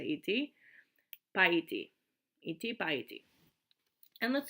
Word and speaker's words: идти: So idti, which we don't really pronounce the D and the T separately, we just say idti, paiti, idti, paiti.